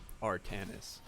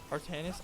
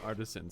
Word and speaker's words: Artanis: It is Artanis, by the way. Artanis? I'm still saying it wrong? You're saying Artisan still. Artanis.